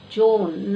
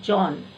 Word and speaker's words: Joan: discussing Joan please students pronounce it as Joan not John yes Joel a teenage